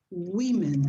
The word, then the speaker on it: women: You say 1 woman, 2 women, and the pronunciation is women. Women.